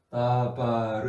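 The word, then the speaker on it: דבר: 광야라는 미드바르가 다바르 말하다는 말인데 예를 들어서 여기에 이서 여기 그 카멘츠와 파타가 이렇게 와서 이렇게 원래 다바르 다바르 이렇게 발음하는데 여기에음 여기에 모음이 오지 않는 그런 경우가 있어요.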